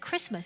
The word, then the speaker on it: Christmas: of course it's Christ must but we don't pronounce the tea inside Christmas it's a day of Christ and if you